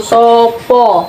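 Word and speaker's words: sapa: Siapa itu Ngokonya itu Sopo. Sopo. Sopo. Sopo, tulisannya siapa tapi bacanya Sopo.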